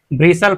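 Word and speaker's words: bristle: यह हमारा साइलेंट होता है। इसे हम ब्रिसल पढ़ते हैं।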